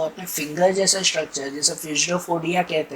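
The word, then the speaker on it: pseudopodia: Structure, जिसे कहते हैं फ्यूजडोफोडिया, जिसे कहते हैं फ्यूजडोफोडिया या तो स्यूडोफोडिया। कोई पी साइलेंट में अगर रखो तो स्यूडोफोडिया ऐसे कहते हैं।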